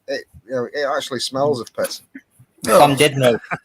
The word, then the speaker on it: Llandudno: Llandudno. It's just full of- Llandudno.